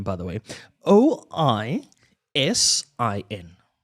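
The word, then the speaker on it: Oisín: Oisin. Oision. Ozen. Almost. Osama bin Laden. No, I don't think the Irish name their children that. It is pronounced Ushin.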